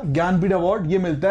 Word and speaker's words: ज्ञानपीठ: श्रेणी में ज्ञानपीठ अवार्ड इसको हिंदी में ज्ञानपीठ लिखने हैं यहां पे इंग्लिश में स्पेलिंग के से स्टार्ट होती है पर बोला उसको ज्ञानपीठ अवार्ड ही जाता है ज्ञानपीठ अवार्ड लिटरेचर